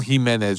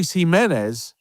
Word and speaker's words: Gimenez: And I'm very excited to bring you this all Himenez show, even though it's not spelled the same for all three of them, but Andre, Lao, and Aloy join me this week.